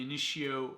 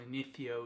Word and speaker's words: Initio: Coming at you with yet again another perfume experience, and continuing with the Initio or Initio, depending on how you pronounce it, theme.